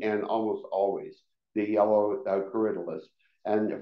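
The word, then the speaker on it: Corydalis: almost always the yellow caridalist and for the longest time I pronounced it Curry Dallas because that's what it looks like uh but then I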